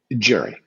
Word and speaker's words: Gerry: So, am I pronouncing your name correctly as Gerry? I wasn't sure if it was Gerry or Gary. Gerry.